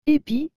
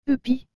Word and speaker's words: épi: et le mot épi vous avez remarqué que j'ai bien dit épis et non de pi cela parce que le eu est accompagné de cet accent aigu c'est pourquoi que nous